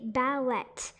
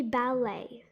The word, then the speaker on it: ballet: of dance over here the t is actually silence but most people don't really notice this they say ballet but it should be ballet the same goes for